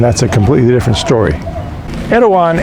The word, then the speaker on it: Erawan: Erawan is actually the Thai way of pronouncing the word Airavata.